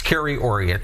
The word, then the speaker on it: Kerry Auriat: We were talking earlier how to pronounce my name and I know you got me again. It's Carrie Ori just in case the viewers at home and I know you got it.